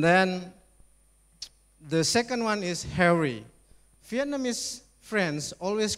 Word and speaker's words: Harry: And then the second one is Harry. Vietnamese friends always call me Henry. I don't know why. Yeah. Maybe of the pronunciation problem.